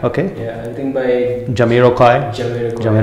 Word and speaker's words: Jamiroquai: Yeah, I think by Jamiroquai. Right. That's how you pronounce it.